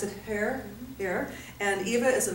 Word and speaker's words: Herr: I'm here with Eva Herr, pronounce it Herr, Herr, and Eva is a medical intuitive, and she's also an author, and there's lots more to tell about Eva.